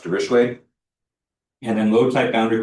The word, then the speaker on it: Dirichlet: So it looks like Dirichlet boundary condition, but it's pronounced Dirichlet.